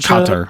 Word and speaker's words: Qatar: Nikela, it's pronounced Qatar.